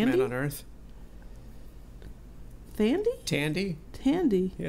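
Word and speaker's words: Thandie: Is her name Tandy or Thandy? Newton. Well, I don't know. I don't know. Sometimes the H is silent, sometimes not so much. So, but she was Thandy.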